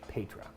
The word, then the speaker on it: Paetra: So this wine is called Petra. I had to look that up because it's spelled a little interestingly. P-A-E-T-R-A, Petra.